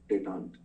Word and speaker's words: détente: ठीक है, French word है, इसलिए you will see that E के ऊपर में वो जो साइन, so जब ऐसा E आता है ना, so it's pronounced as A.